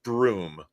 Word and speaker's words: Broom: Rommel Broom, like a broom, yeah, like a push broom.